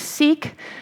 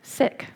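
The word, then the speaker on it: Sikh: sick woman and I it's an SI i k woman we may have thought of that as seek um but I've recently learned after my parliament of world religions trip that is actually correctly pronounced sick so the sick woman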